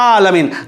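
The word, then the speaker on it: العالمين: সেই দিদারে আমরা যেন সহিভাবে কোরআন পড়ে নামাজটা সঠিকভাবে পড়তে পারি, তার জন্য আমি বললাম আলামিন আইন দিয়ে বলতে হবে। কেউ যদি বলে আলহামদুলিল্লাহি রাব্বিল আলামিন, হবে না, বলতে হবে আলামিন।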